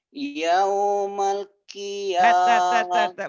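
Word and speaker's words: يوم القيامة: Yaumal qiyamah. Masih. Yaumal. Yaumal. Jangan buru-buru. Pengucapin L-nya ditahan sedikit. Yaumal qiyamah. Seperti ditahan padahal enggak.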